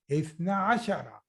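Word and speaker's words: اثنا عشر: So that's why you remove noon and you pronounce 12 as ithna ashara.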